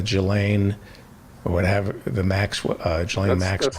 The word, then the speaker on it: Ghislaine: And I'm going to be focusing on the Ghislaine, or whatever, the Maxwell, Ghislaine Maxwell.